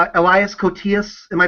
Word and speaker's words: Koteas: But I like this, especially, I like Elias Koteas. Am I pronouncing his name right? I think it's either that or it's Cotees. I think it's Cotees.